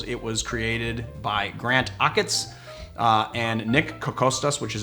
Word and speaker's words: Achatz: a grant icon Rockettes name that's how you spell its a CH ATZ and I said shots granted shots and it's almost like you pronounce